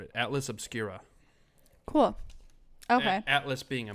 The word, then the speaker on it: Atlas Obscura: it is atlas obscura cool ok atlas being a map obscura being